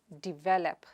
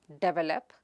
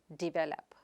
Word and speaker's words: develop: The next word is divelep. It is not develop, but divelep. Repeat it after me, divelep.